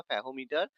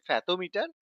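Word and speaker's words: fathometer: ফেদোমিটার বা ফ্যাকোমিটার যা উচ্চারণ হয়। কোন অসুবিধা নেই। Proper noun. তো এটা একচুয়ালি ফ্যাথোমিটার। বাংলায় এটাকে ফ্যাকোমিটারও বলা হয়ে থাকে।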